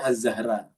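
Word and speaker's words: الزهراء: Jadi kalau misalnya dikasih alif lam mari riifah ini bacanya azzahra tapi karena tidak ada alif lam marifanya zahra saja.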